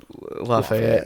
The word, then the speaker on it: Lafayette: So I'm like we pronounce it Lafayette around here.